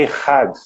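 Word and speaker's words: אחד: e nós juntamos caminho, Jesus está dizendo uma outra palavra em hebraico, que sua pronúncia é Errad.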